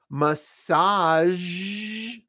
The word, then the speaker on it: massage: it but right there beige it's a color so she's wearing a beige dress here are some other words where that Z is at the very end massage that's how we say it here's another one Prestige that's how we say it Prestige thank you where sh